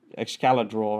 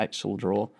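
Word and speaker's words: Excalidraw: if we just go back to the ex excalla draw I actually found out is how it's pronounced not Excel draw uh there is a missing part of this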